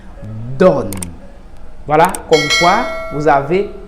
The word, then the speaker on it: donne: On dit donne.